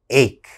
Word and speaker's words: ache: h okay that's wrong that ch has to have a strong k sound ache ache what is an ache